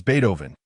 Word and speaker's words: Beethoven: His name was Beethoven, not Beto, haha.